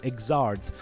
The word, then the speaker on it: Xrd: And yes, that's how it's pronounced, Xrd.